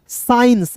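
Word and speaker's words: science: तो यहां पे देखिए एस सी आई ई एन सी ई तो एस का तो स होता है। सभी को पता यहां पे सी को साइलेंट करना है। और आई ई एन C ions साइंस।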